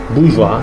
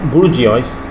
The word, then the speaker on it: bourgeois: terms of wealth right Bourgeois just pronounced Bourgeois like I told you ois is also pronounced as what o-i-r is also pronounced as wa so it's not budgies it's what bourgeois thank you now this